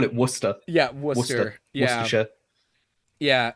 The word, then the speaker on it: Worcestershire: Like the internet says it's like wash your sister sauce or something because no one knows how to pronounce it. What is it? We just call it Worcester. Yeah, Worcester.